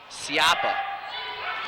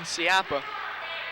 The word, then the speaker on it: Siapa: Correct pronunciation on number 21 is Siapa. Figured that out during halftime. Plays left field for the Spartans in baseball. So number 21, Siapa.